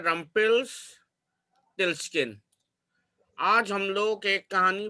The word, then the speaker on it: Rumpelstiltskin: ये प्रोनाउंसिएशन है रम्पेल्सटिल्स्किन।